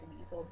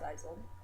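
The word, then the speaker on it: Wiesel: Eli visel um or it's spelled weasel pronounced wiled um it's born in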